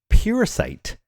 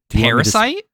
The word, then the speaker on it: Puresight: The card name is Puresight Marrow. Puresight Marrow. Parasite?